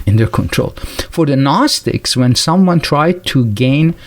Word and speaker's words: Gnostic: the way, this gnosis, Gnostic with the silent G in the beginning, this is the same word that we have the word knowledge today with K-N-O-W, and this is G-N-O.